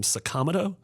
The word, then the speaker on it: Sakamoto: There's a man whose last name was Sakamoto and he pronounces his name Sakamoto.